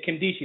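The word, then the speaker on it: Nkemdiche: Yeah, Kimdichie. The N is silent, by the way, gentlemen.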